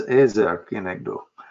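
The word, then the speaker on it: עזר כנגדו: if I want to make sure I'm pronouncing Ezer Kenegdo right, you can hear my American accent versus the there's Ezer Kenegdo. So there's no reason to mispronounce Hebrew.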